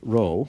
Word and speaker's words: Rho: and that has a special name it's called roll the population correlation coefficient and Rho which is pronounced like that roll it's actually the seventeenth